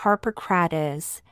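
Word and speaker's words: Harpocrates: to pronounce the Mantra the name of Harper crates is Harper crates but the Mantra is Harper Kratz and then one concentrates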